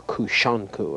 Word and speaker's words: Kusanku: This form was originally known as kusanku, or kushanku, another pronunciation.